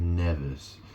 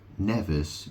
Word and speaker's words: Mnevis: Nevis is spelled Mnevis. Nevis bull. I assume the M is silent. In other words, it's Nevis bull.